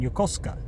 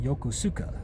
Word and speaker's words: Yokosuka: Japanese, like for example, I used to live in Yokoska and that's how the Japanese say. They call the town Yokoska, but the Americans called it Yokosuka.